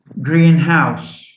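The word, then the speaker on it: greenhouse: on the first element so we don't say sick nurse we say sickness we say green house and we say w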